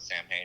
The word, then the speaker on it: Samhain: He's like, it's pronounced Samhain.